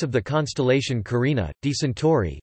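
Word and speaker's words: Tauri: the Bull is designated alpha Tori pronounced alpha Tori which means alpha of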